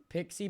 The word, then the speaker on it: PXE: It's pronounced PXE is pronounced as Pix Pixie Boot.